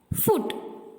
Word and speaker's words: foot: இந்த வேர்ட்ஸை நம்ம இப்படி தான் சொல்லணும். Listen carefully. FOOT, foot. WOOL, wool. Foot அப்படி சொல்லக்கூடாது, ஊல் அப்படி சொல்லக்கூடாது. ஏன்னா அங்க இருக்க ஓஓ நம்ம எப்படி ப்ரொனவுன்ஸ் பண்ணோம்? ஊ. ஸோ ஃபுட், உல்.